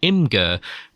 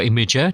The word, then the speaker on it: Imgur: Act, we can no longer see anything on Imgur, or Imager, depending on how you say it.